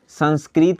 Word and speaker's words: संस्कृतः: विसर्ग को ह पढ़ा जाता है। जैसे एग्जाम्पल में हम ले लेते हैं संस्कृत लिखें और इसमें अगर विसर्ग लग जाए तो इसको कहाँ हम पढ़ेंगे? संस्कृत था तो अब विसर्ग लगने के बाद इसे संस्कृतः, ह उच्चारण लास्ट में आ रहा है, संस्कृतः संस्कृतः पढ़ेंगे, संस्कृतः।